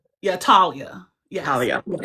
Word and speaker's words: Talia: And your your pronunci pronunciation of your name is Talia. Yeah. Talia.